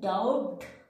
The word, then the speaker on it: doubt: calm but this case whenever the letter b is present just before the letter t in that case we are not pronouncing letter b so letter b is